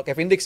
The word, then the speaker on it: Kevin Diks: Iya sudah tebal banget sebenarnya tapi kalau ngomongin soal Kevin Diks ya bacanya.